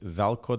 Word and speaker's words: Veljko: there you go so my first name is velco that's spelled v l j KO o and the